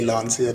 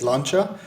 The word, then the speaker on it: Lancia: luncher Delta inali evo1 and I said lancha I didn't say lania um going forward I'll probably say lania because I know in the UK and everywhere else people say Lancia the real the proper way to say is luncher but yeah I think everyone knows it as a Lancia you remember just a